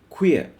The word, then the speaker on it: queer: tear beer and here Q u WR is a word which we often mispronounced the pronunciation is queer just as q w ee n is queen this is queer so we we get